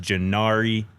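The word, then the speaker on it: G'nivre: That is pronounced Jari Carr, a fourstar offensive lineman from from IMG Academy.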